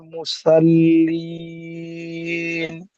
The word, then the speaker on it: মুসল্লিন: আল ফাওয়ালুল লিল মুসাল্লিন। ফাওয়াই, ফা ওয়াই, ফাওয়াইলুল লিল মুসাল্লিন। মুসাল্লিন হবে না, মুসল, সৎ টিপুর হলো, মুসাল এই মুসল মুখ গোল করে উচ্চারণ করতে হবে।